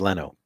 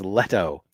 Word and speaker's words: Leto: doesn't help Alonso says Leno Leno dude you're question behind and you got the name wrong it's letto and he has he